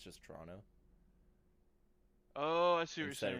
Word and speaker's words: Toronto: yeah, but most people like you would say Toronto, but you like if you're Canadian, you don't pronounce the last T. It's just Toronto.